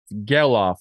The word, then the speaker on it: Gelof: Zack Gelof, you want to say his name? Gelof, like sell off.